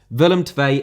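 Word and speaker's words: Willem II: willem tvay from panathinaikos and yes willemtvae is how it's pronounced you uncultured filth filth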